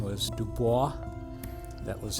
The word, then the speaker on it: Du Bois: sent out a man senator whose name was Du Bois that was how you pronounced the last name do you bo is and when he came here to do the